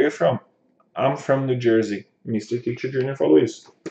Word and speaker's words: Jersey: E Jesse, as pessoas no Brasil geralmente pronunciam com som de S. Esse S tem som de Z. Nesse caso aqui, o S tem som de Z. Então, Jersey.